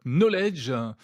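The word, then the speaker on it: Nolej: Vous dirigez la startup Knowledge. Ça s'écrit N-O-L-E-J. On comprend qu'il y a un jeu de mots entre knowledge en anglais.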